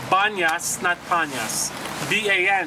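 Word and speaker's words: Banias: the site is called banyas snap Anya's da n IAS why he was in the Arab tongue they can't pronounce pee-pee turns into be so retains its name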